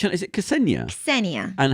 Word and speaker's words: Ksenia: Ksenia And how do you pronounce the surname?